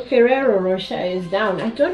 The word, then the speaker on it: Ferrero: they can cling easily whoops okay so the ferraro ferrero rocher is down i don't know why i'm having difficulty pronouncing ferrero okay so yeah basically that's it